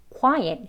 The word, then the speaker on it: quiet: 해서 quiet, 이게 강세가 1음절, 2음절로 나뉘는데요. 첫 번째 음절에 있습니다.